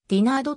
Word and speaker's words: デナード: ミドルネームで登録名のレナードは発音指示ではディナー度となっている 2002 年の mlb